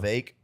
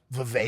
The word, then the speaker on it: Vivek: Vivek predicted all of this Is that how you say his name? to a T. Yeah. Vivek? Vivek rhymes with cake.